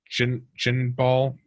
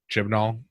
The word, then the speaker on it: Chibnall: she says that she's leaving because of Chris chin chin ball I don't know the guys how to pronounce it ship null Chibnall Chris Chibnall he's the writer and producer of